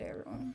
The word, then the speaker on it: heirloom: It's another one of those English words that doesn't look anything like it's spelled. It starts with an H. It should start with an A. It makes no sense.